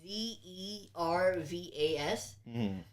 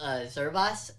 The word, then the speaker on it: Zervas: I believe that's how it's pronounced. It's Zervas. But this is the slowed and reverbed version of it.